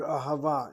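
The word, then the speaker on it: אהבה: With vowels, a chata patach underneath the aleph, a kamatz underneath the hey, a kamatz underneath the second hey, ahava.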